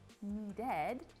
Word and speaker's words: needed: So when we put that in the past tense, needed, we're gonna pronounce the E as well. Otherwise, it's just a jarble of D, needed. We don't wanna do that. So, need-ed.